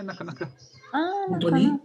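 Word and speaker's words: なかなか: Like that, you say nakanaka, just as the way you said it, nakanaka.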